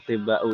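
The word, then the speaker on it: أطباءُ: Tapi kalau misalkan bingung ini asal kata atibba'u ini, nggak usah perlu difikirkan, nggak usah perlu difungsikan, nanti akan jadi beban hidupnya. Yang penting jamaknya tabib itu atibba'u dan tidak boleh tanwin, gitu saja kan ya.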